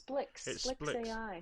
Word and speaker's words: SPLX AI: I asked Yeah I asked someone how to pronounce I think it's Splicks AI really even though it's SPLX. SPLX. Okay, but it's Splicks AI.